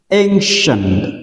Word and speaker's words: ancient: Cái từ này trong tiếng Anh nó có một cái từ đặc khá đặc biệt, đó là CI, chúng ta đọc là S, ancient, ancient, đó là một